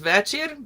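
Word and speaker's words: вечір: So I put the whole word in there for understanding, but you're really just going to sing the first syllable.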